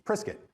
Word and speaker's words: Prescott: was prescott arizona right it's priskit it's spelled p-r-e-s-c-o-t-t prescott prescott is how it's spelled and we were we were notified that we were saying it wrong and it's it's prescott so it's not a it's